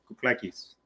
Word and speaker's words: Kouklakis: So it's Kouklakis. Kouklakis. Oh, yeah, all right. That's perfect.